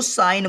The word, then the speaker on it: sign: इसको साइन बोलते हैं, सिगन नहीं बोलेंगे।